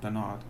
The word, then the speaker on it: Bernard: Now in England, of course, we pronounce that Bernard Chapin, but I doubt he'd go for that somehow, and I'm not out to offend him, so we'll go with Bernard.